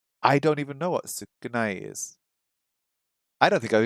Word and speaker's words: 少ない: 少ない、 Sukunai.